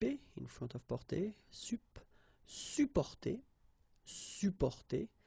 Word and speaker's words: supporter: You can also add this SUP in front of porter, sup, supporter, supporter. You don't really pronounce the two or the double P here, supporter.